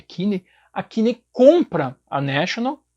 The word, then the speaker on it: Kinney: E aí, então, a grande empresa, a Kinney, eu acho que é essa a pronúncia, acho que é Kinney, a Kinney compra a